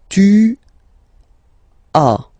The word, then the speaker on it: tu as: Second one, tu as. Okay. As usual in French, final s is not pronounced.